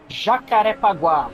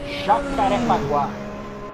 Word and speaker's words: Jacarepaguá: Em português é Jacarepaguá. In Portuguese, Jacarepaguá. See, I got it Jaca. almost nailed down. In the last A, you pronounce A.